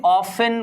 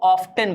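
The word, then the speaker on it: often: अच्छा, बहुत से बच्चों का एक वर्ड और आता है, जैसे कुछ बच्चे ऑफन को ऑफ्टन बोलते हैं, ऑफ्टन बोलते हैं, क्योंकि उनके सामने जो टीचर बोल रहा है उसने ऑफ्टन बोल दिया।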